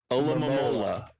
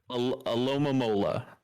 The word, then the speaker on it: Alomomola: Next up, Golem versus Alomomola. Yeah, you don't even know how to say it. It's so bad. Alomomola. Alomomola. Yes. It's supposed to be like Aloha, but also Mom, but also a palindrome.